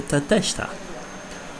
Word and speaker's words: Tateshita: The ones left are the Tateshita, or better said, how it is pronounced in Japan, the Tateshita.